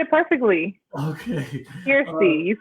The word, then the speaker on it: Kirstie: Now, Kirstie, and I butchered your name like 4 times. Please. No, you actually said it good. You said it perfectly. Okay. Kirstie, you said it right.